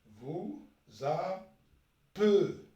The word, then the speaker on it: appelez: ومن بعد vous appelez. donc nous appelez. vous appelez. donc هنايا يكون un seul L. كي نطقوه E يكون un seul L.